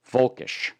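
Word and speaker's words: völkisch: You know, there's a German word where they spell it with a V. Folkish, right?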